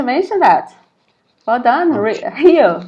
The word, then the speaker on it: Rio: Rio. Yeah, that's how us cariocas say.